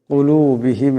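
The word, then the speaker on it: قُلُوبِهِمْ: কুলুবিহিম, এখানে বড় কাফ আছে, আওয়াজটা গলা থেকে আনতে হবে।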